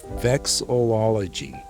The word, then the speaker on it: vexillology: And then a hobby I've had for a long time is vexillology. I'm vexed. You are vexed, yes. So it's an odd word that sounds like it has one too many syllables in it.